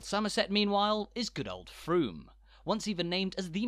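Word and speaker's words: Frome: mistake as I did it's Froome not from thank you so much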